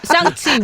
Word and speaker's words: 샹치: 쌍치라고 쌍치. 근데 그 여자가 쌍 발음을 못하는 거예요.